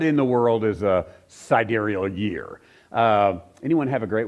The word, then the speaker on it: sidereal: this thing called the sidereal. Did I pronounce it right? Every time I look at it, I want to say sidereal. It's sidereal, I believe, is the proper pronunciation.